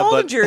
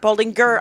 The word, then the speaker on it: Baldinger: It's like, Jeff Baldinger is here, you guys. Hey, and he everybody. knows things. He knows things. And stand-up comic Jeff Baldinger. I forgot to get Baldinger. Baldinger.